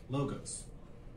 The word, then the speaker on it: logos: You may hear them pronounced in various ways. For this tutorial series, we'll use the following pronunciations: ethos, pathos, logos.